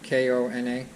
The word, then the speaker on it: Kona: K-O-N-A?